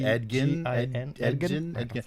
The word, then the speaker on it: Edgin: heard it before, and it's spelled edging without a G. And maybe you pronounce it Edgin, but it's pronounced Edgin without a G.